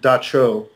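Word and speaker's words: Dab Tsog: There was a creature called it's spelled DABTSOG, but it's pronounced Dacho.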